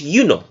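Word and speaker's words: Iuno: when they translated Juno the original pronunciation of Juno was you know all right you know with an eye so they said you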